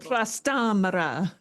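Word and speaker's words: Trastámara: It's got an accent in Spanish. When we have an accent, it means the stress is in that syllable. Trastamara.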